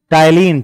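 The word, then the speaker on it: ptyalin: है क्या कम है टाइलिन टाइलिन पी साइलेंट है उसको टाय क्या लड़का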